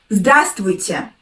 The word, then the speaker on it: здравствуйте: I don't pronounce like that. I pronounce without the letter «v» in the word.